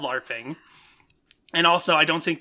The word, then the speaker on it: LARPing: are really ready to L A RPG which is not how you say it in real life it's called LARPing and also I don't